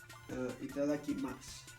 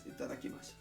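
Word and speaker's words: いただきます: So, itadakimasu, right? Itadakimasu. So the pitch, it's on ma, and then it drops for itadakimasu. So it's not itadakimasu, it's itadakimasu. In a way, right?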